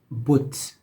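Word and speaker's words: بت: Or the short o, like a little vav on top of the whatever consonant you have. So this was actually an example that we went through. But, which meant idol, like the thing that people worship, whatever. But you see that this little vav on top of the consonant bo, like b o t, so but, right?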